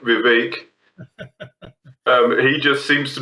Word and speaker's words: Vivek: actually of the guy whose name rhymes with cake Vivek um he just seems